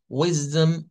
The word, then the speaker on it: wisdom: Ahora, cuando vamos a ver, digamos, la definición, nos dice que su pronunciación, de acuerdo al inglés estandarizado, es este que está acá con una Z y con una Z, wisdom, wisdom.